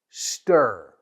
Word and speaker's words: stir: It rhymes with fear. What about the second word? Stir.